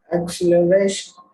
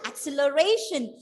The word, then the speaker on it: acceleration: Acceleration. And I remembered I had pronounced this word as acceleration. See, I gave the stress on the first syllable, and that was wrong according to the rule.